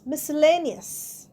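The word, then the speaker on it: miscellaneous: Next come M আই এস সি ই এল এল এ এন ই ও ইউ এস মিসলেনিয়াস এখানেও মিসলেনিয়াসে সি উচ্চারণ হচ্ছে না।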